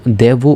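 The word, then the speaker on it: devo: এই শব্দটা যখন বলবা তখন কিন্তু দেবু উচ্চারণ করতে হবে।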